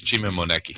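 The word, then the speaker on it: Chima Moneke: It's Chima Moneki.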